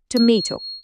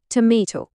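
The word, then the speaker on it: tomato: এই যে শব্দটা টমেটো। আমেরিকান ইংরেজিতে এটার উচ্চারণ হলো টমেটো। আর ব্রিটিশরা যখন বলে তখন সেটা হয়ে যায় টমাটো।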